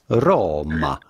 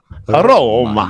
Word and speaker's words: Roma: How do you go about pronouncing it with a typical Italian pronunciation? Roma. Roma.